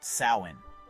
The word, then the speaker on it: Samhain: Almost everything we associate with the holiday started right here, over 2,000 years ago, with an ancient Celtic festival called Samhain, pronounced Samhain.